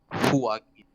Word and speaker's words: Joaquin: it's because that J is read out as an H, and you have a Right. U, but instead of going U, you pronounce it as Joaquin. Ah, walking.